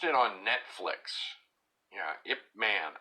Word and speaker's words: Ip Man: on Netflix you know if man IP doesn't everybody know but it's spelled IP and then space and then man just like man a man but I you know I